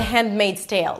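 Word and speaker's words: Handmaid's Tale: If you tend to not pronounce the H, be sure to pronounce it.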